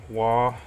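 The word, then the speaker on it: Waugh: In The Warp Duncan wah assembles I think that's how you say his name wall w-a-u-g-h symbols very own tempesta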